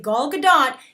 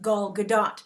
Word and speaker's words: Gal Gadot: show pointed out that the correct pronunciation of an Israeli name, such as hers, is Gal Gadot.